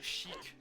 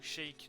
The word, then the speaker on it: Sheik: Donc Sheik ou Sheik, donc Sheik c'est en anglais et Sheik c'est plus une prononciation à la française, nous a dit de nous rendre dans le village Cocorico.